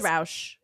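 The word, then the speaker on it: Rausch: Sorry, I don't know that how to pronounce his last name, even though it will be mine soon. Like everyone, it's Roush.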